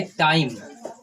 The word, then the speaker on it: time: यहाँ देखो 4 लेटर हैं, लास्ट में ई है, बीच में आई है, तो ई तो साइलेंट रहता है। अब जो ये आई है ये आई का ही अपना प्रोनाउंसिएशन रखेगा, तो इसको हम बोलेंगे टाइम।